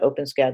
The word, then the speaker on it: OpenSCAD: they're all written in open scad and if you haven't seen open scad sometimes pronounced open s-cad um it's a free